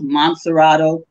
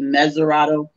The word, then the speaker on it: Mesurado: is now Cape Mount Mesurado, which we mispronounce Montserrado, which was originally called Cape Mesurado.